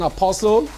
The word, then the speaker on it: apostle: You don't pronounce the T in apostle.